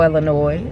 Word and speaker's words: Illinois: chicago chicago chicago illinois where you pronounce the thank you sir because why is the s there if we ain't gonna talk about it mention it we're gonna put an s in there when they ain't supposed